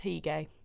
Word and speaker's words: Hige: Not sure how to pronounce that one. Hige. It's Hige.